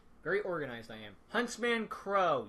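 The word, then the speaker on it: Qrow: Huntsman Crow. Yes, you pronounce a Q with a C.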